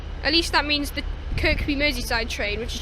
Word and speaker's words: Kirkby: it as well don't can actually pronounce this Kirby which is the little pink marshmallow thing from Nintendo but no it's Kirkby listen is Kirkby Mery side just to